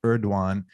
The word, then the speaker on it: Erdoğan: It's pronounced Erdoğan.